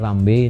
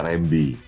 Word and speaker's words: Rambey: Y dipasang karena ayah saya waktu itu sekolah aslinya Rambe tanpa Y. Tambah Y. Ayah saya sekolah di Belanda dibaca Rembi. Oh. Iya, jadi dia tambahin Y supaya kebacanya tetap Rambe.